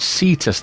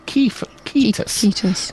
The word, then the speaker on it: Cetus: So just to mention for Steve, he would also say not Cetus the whale. He would say Cetus, which, as you say, hard C is what we need here.